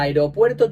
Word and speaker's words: aeropuerto: que saberse la norma la separación en sílabas es Aeropuerto Así que son cinco sílabas y por tanto el